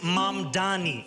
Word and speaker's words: Mamdani: And furthermore, the name is Mam Dani. M A M D A N I. You should learn how to say it.